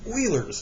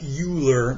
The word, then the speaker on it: Euler: All right, so I know it looks like Euler, but it is pronounced Euler.